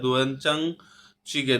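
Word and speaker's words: 된장찌개: এখানে বলছে bibimbap bibimbap ভুলগুগি মানে ভুলগুগি, দোয়েনচাং চিগে, দোয়েনচাং বললাম কেন, নিয়ন বাচ্চিমের পরে যদি জিয়ত আসে তখন জিয়তের উচ্চারণটা চয়ের মতো হয়, সাং জিয়তের উচ্চারণ হয় দোয়েনচাং চিগে, দোয়েনচাং চিগে।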